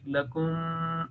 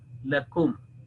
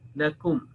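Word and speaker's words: لكم: rules of Tajweed al-Quran, one is not allowed to make elongation here, not making a nasal sound or gunna like lakum. That will be incorrect. So simple and clear pronunciation of lakum, lakum, not lakum. That will be no, incorrect.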